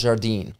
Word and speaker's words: Zardin: you are the founder of is it pronounced Jardin it's pronounced Jardine Jardine yes sir and that is is that